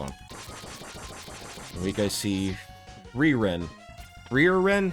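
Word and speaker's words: Frieren: Freeren. Freeren? How do you say that? Freeren. Like Freon. Free-Ren, okay. Ren did nothing. Free-Ren, alright.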